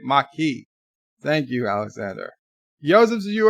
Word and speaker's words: Maquis: oz edison's barkeep vertebrae marquis the French word you say it Mikey Thank You Alexander Joseph's